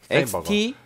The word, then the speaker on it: Steinberger: 스테인버그. XT-2라는 모델인데요. 네, 스테인버그랑 스테인버그랑 헷갈리시면 안 되는 게 스테인버그는 네. 큐베이스 만드는 회사고요. 그렇죠. 소프트웨어 만드는 회사고요. 예. 스테인버그. 예, 스테인버그입니다. 햄버거 할 때 버거입니다. 스펠링도. 그래서 헤드리스 기타에 대한 노하우의 집결체.